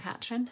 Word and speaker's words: Katrine: My poor daughter's called Katrine the whole time, but Katrin is the way you pronounce the loch.